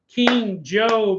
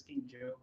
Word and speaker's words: King Joe: all right welcome in King job assuming I'm pronouncing it right right I think we did talk about that after the episode he said it is King Joe but yeah sometimes I'll